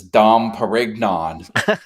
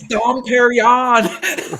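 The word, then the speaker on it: Dom Pérignon: The lady had fine champagne, and she says, "This is Dom Perignon." Oh my god! No, it's Dom Perignon.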